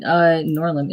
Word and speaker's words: Noirlem: All right, so I can do Noirlem. Is it Noirlem? Is that how you're pronouncing it? Yeah, it's a portmanteau of noir and Harlem.